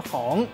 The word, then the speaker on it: 妨: 今仔日小解这一日读作妨，提供予观众朋友来参考。